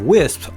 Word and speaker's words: Wisp: I call it the Wisp because it's spelled W I SP.